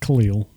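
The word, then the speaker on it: Kahlil: Is it Khalil? Is that spelled right? Yes, that's how it's pronounced.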